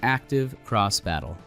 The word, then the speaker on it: Active Cross Battle: x battle ax ve system pronounced active cross battle what we can immediately